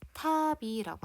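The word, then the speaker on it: たび: 예 이름이 탑이 있네 어 답 이라고 써져 있지만 정확한 발음은 답이 가 아니에요 탑이라고 합니다 답이 2 파비 더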